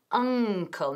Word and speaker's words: uncle: She knows my uncle. Mi tío. Hay que pronunciar bien esa palabra. Si no, la gente van a pensar que estás hablando de tu tobillo. Uncle, no ankle. Uncle.